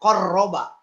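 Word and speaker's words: قرّب: Tentu akan diucapkan dengan aksentuasi atau tasdid, maka akan dibaca korroba.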